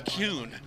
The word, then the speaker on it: Kuhn: Look forward to introducing him, Travis Kuhn. And it's pronounced Kuhn, even though it's K-U-H in the last name.